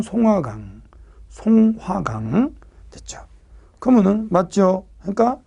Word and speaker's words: 송화강: 중국식 발음은 숭화강, 우리 발음은 송화강.